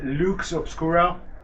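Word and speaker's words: Lux Obscura: the Instagram is uh Luke's obscuro yes and it's spelled like it's pronounced l u x o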